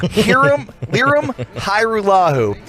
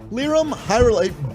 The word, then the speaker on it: Lirim Hajrullahu: Lirim Hajrullahu. Yeah. Lirim Hajrullahu. That's wonderful. Hey, Broaddus has it. Isolate that for me, Zero. Oh, yeah, because it continued. Did you watch much of Lirim Hajrullahu in practice this week?